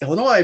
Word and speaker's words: Illinois: to the point where I didn't say Illinois you know I mean it's Illinois but everybody there's that s there yeah yeah you got that silent s so that was